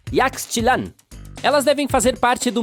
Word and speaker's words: Yaxchilan: E as cidades maias também são difíceis de pronunciar. Yaxchilan.